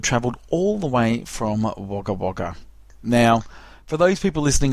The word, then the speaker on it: Wagga Wagga: Yeah, That's pronounced Wagga Wagga. WAGGA times 2, Wagga Wagga.